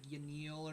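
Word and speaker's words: Yanille: I think Yanel is technically like Yanil or something.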